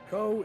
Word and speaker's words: Kou: found me and like commented on it, I pronounced co as cow the entire time.